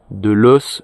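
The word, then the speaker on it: loess: terre, il y a eu pas mal de loss, c'est-à-dire, ça s'écrit L-O-E-S-S.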